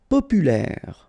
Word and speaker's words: populaire: Populaire, final E not pronounced, so populaire, populaire.